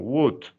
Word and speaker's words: would: A lo mismo, es lo mismo que con would. No decimos would, sino would. Good. Okay. Would. ¿Ok? Would. Perfect. Would. La L no la pronunciamos.